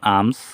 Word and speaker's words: alms: যেমন ALMS, এম এর পরে কোনো ভাওয়াল নেই, তাহলে এল উচ্চারণ হবে না। যেমন আমস, ভিক্ষা। এখানে আছে এল এর পরে